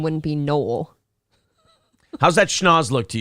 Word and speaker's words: Noel: That is pronounced Noel. Can I do my show? Yeah. In my show, it's Noel. Okay, it's Noel. Noel let you makes have more it. sense for a girl. I always thought Noel, not like, oh yeah, guys, it's spelled like the Christmas one.